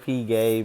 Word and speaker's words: Piguet: Is that how it's pronounced? It's Piguet? Period. Audemars Piguet, bitch.